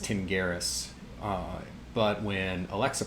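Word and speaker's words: Tingiris: when Alexa so this my name is pronounced pronounced Tim Garris but when Alexa pronounces it she says tinge iris and so this is a really common case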